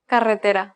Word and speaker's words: carretera: in english that's right the double r here is a rolled r it can be a little tricky for some learners carretera another common word is